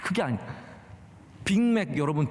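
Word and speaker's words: Big Mac: 빅맥. 여러분, 빅맥 발음이 굉장히 어려운 겁니다. 빅은 G로 끝나고 맥은 C로 끝나거든요. 이게 발음 뒤에가 달라야 돼요.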